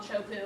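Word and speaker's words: Teahupo'o: this is a really famous Wave It's called chopu I don't even know how that comes out of teahupo but that's how you pronounce it and this picture is pretty much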